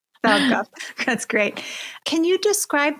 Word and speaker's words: Falkoff: Am I pronouncing Falkoff right? I like to pronounce it as close to a swear as possible because it's funny. But yeah, Falkoff. Falkoff.